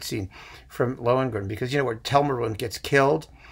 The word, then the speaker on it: Telramund: Oh, Christa Ludwig is a fantastic Ortrud, and Fischer Dieskau as Tellermund. I've never pronounced that right. Telramund. Yeah, Telramund.